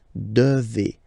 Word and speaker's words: devez: Remember, classic ending for vous here, a Z, but then you pronounce this combination of two letters, et, devez, devez, vous devez.